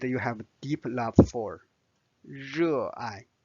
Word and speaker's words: 热爱: 热爱, 热爱, 热爱. So this is the pronunciation.